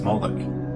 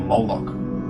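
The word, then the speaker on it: Moloch: The MLK is vocalized as Moolik or Moolok in the Maseretic texts, which is an authoritative text in rabbitic Judaism. It's from this pronunciation that we get the contemporary name Molo.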